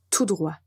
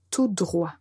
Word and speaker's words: tout droit: à la fin et on ne prononce pas la lettre T tout droit tout droit donc nous avons à